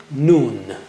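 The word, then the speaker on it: نون: letter noon right there how do you say noon touch the tip of the tongue to the upper gums a little above the roots of the teeth as you see in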